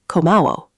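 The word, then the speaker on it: 고마워: You'd say komawo. Komawo. Can you see it on screen there? Ko ma wo. Three syllables.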